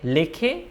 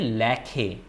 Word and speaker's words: লেখে: Okay, lekhe, it's not the right pronunciation. Lakhe, although it's ekar, look here, although it's ekar, lakhe, but the pronunciation will be lakhe.